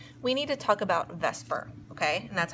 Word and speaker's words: VSEPR: okay that's per be I know it's the SE but it's pronounced ves okay valence shell electron